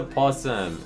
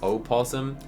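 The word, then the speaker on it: opossum: And oh, another water pawsome. Is that a water o possum? Is that how you say it? Yeah, it's got an O in front. I think the ears are like comically large.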